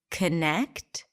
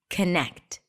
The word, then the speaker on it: connect: and see what happens can we say connect or do we need to say connect if our default pronunciation is connect and you reduce that or sound and it still sounds ok to you connect or even better it's a schwa connect connect let's take another